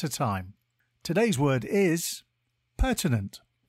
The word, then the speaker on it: pertinent: Today's word is pertinent. It is pronounced per-tin-ent and spelt P-E-R-T-I-N-E-N-T. Think per-tin and then ent.